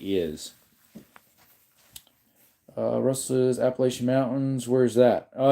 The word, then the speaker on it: Appalachian: Uh -8 is uh Russ's Appalachian Mountains. Where is that? Oh, it's back east. At least that's how I say it. Appalachian. It's pronounced a lot of people would say appalouchia or something like that.